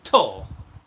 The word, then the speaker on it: Thor: I mean, some cultures will go Thor and not pronounce the H.